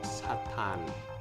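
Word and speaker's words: サターン: Itu karena pengucapan Saturn dalam bahasa Jepang itu jadi Satan. Ya, A-nya panjang tapi jadi sedikit dekat dengan bunyi Satan seperti itu.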